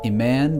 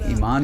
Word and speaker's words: Eman: Wait, so how do you say it? Iman or Eman? E-man. So it's like Eman. it's like Emmanuel, but E-man.